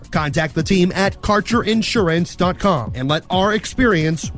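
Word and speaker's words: Kaercher: Quality cannabis Insurance Services is spelled k a e r c h e r that's carer insurance we have worked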